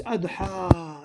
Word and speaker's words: الأضحى: Now this adha, you're pronouncing it ha, because it's an alif. There's no way that you can get a kasra on that.